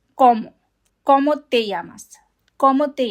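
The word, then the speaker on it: cómo: If you have an accent over the letter, then that means that is where the stress is. So, instead of como, it is como.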